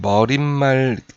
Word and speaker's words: 머리말: 그죠 그다음에 이제 3번에서 머리말 이렇게 돼 있는데 표준 발음이 머리 말이에요 그죠 그 머리 말인데 머리말처럼 지금 사이시옷이 들어가 있거든요 근데 머리말은 시옷이 나타나지 않는 그런 단어입니다 그래서 보시면 아시겠지만 소리가